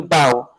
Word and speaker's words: bow: ribbon in a bow when you meet the queen you bow which again must rhyme with how in perfect english make